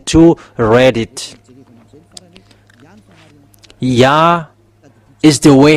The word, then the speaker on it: Yah: is y h it's yah. So if we read it it's yah. Oh it becomes redder. That's it. Have this. Yeah. How to read it. Yah is the way how to read it.